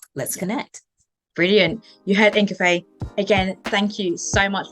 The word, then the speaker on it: Ingafay: Ingafay, where can people reach out to you?